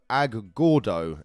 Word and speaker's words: Agordo: And he's from a place called Agordo, A-G-O-R-D-O, Agordo in Italy.